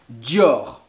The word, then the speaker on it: Dior: ensuite christian dior très bien stien dior exactement dior on arrive saint laurent yves saint laurent yves